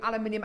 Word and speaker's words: aluminium: out of the bag aluminium it is aluminium it's not aluminum is it Alum I think the Americans say aluminum don't they aluminum aluminum I quite